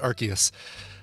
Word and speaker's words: Arceus: grab that uh pokemon arceus or rcsr oh it is arceus i'm glad our chaos are ortius yeah it is a hard c boy it's a hard